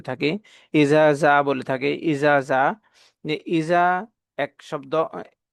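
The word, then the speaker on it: إذا: ইসরুল্লাহি ওয়ালফাত এখানে আমরা কিছু ভুল করে থাকি ইজা বলে থাকি ইজা ইজা এক শব্দ এটা হচ্ছে জিহ্বার আগা থেকে উচ্চারণ হবে ইজা যখন ইজার উচ্চারণটা করব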